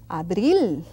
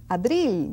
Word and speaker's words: abril: Abril. It's not a P like in English. It's abril with B.